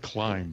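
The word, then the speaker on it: Klim: climb uh or or larry likes to pronounce it a different way but we're gonna go with climb the way that they intended um so so it's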